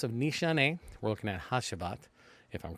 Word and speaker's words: Hacivat: I say that actually one of the people in the fragrance groups told me how to say it from the last video they helped me correct it and if I'm correct to see or something to that nature sounds like a J so how's about so